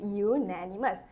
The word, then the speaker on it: unanimous: how do you pronounce unanimous okay how how it's pronounced is unanimous it's a consonant sound right not a vowel sound okay so it be